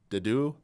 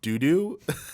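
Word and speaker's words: Dedue: For Blue Lions, I believe it's Dimitri, Ingrid, and Dedu. And he said not doo-doo, which was pretty funny.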